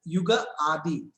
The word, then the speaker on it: Ugadi: So basically what I knew is that Ugadi, actually Ugadi, you can also be pronounced as Yuga Adi. That means Yuga means we know that it is era, and Adi means the beginning in Sanskrit. So a new era has started.